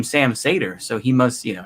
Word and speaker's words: Seder: to pronounce my name i guess technically it's sam sater isn't it because that's you know the seder right so i mean i guess it's sam sater is that how you should pronounce it same thing with yaron